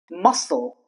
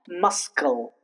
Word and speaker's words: muscle: Muscle not muscal.